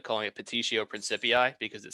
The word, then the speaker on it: petitio principii: It's called begging the question, but I always like calling it petitio principii because it sounds fun. The T, spell it? Petitio, so like petition, but take off the N.